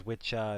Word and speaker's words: Wicca: Apparently, Wicca used to be pronounced as Witcha, and it's witch is interchangeable.